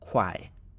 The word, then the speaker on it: 块: So everything that is in blue on the left of the comma is pronounced kuai or renminbi or yuan.